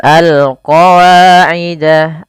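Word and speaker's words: الْقَوَاعِدَ: Kemudian pada lafal al qawa'ida, al-nya alif lam qamariyah jelas suara lam-nya.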